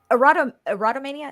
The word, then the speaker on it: erotomania: But the erotomania, is how you pronounce it?